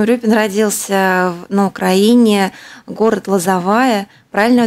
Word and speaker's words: Лозовая: Валентин Урюпин родился на Украине, город Лозовая, правильное ударение сделала?